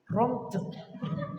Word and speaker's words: Prompt: Prompt. Ya, ini. Lihat tulisannya. Prom PT, gimana bacanya? Ya itu prom.